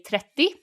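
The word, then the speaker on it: trettio: remember is that it's spelled with an o on the end all of them but we drop them so while i say trethi is spelled you ah right okay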